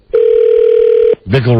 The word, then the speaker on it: Bickle: Bickle rhymes with pickle.